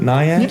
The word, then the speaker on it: Naiad: Is it Naiad? Yeah, it's Naiad. It's a Naiad, yeah, right. Dryad, Naiad, it rhymes and they are closely connected.